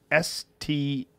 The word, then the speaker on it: Stahelski: I always fuck up the pronunciation of his name. It's very confusing. Here, hold on. Chad's Stahelski.